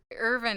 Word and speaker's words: Irvine: rollerskate there anymore so how do you pronounce it Irvine or Earvin it's urban is technically correct but I think we